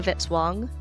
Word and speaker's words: Vitz-Wong: Music by Kevin Vitzwong, rhymes with hit song.